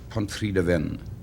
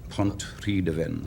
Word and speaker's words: Pontrhydyfen: Pontrhydyfen. Pontrhydyfen.